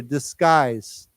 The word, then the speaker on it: disguise: Why don't we say together, disguise? Okay, now remember the pronunciation is disguise, like a K sound.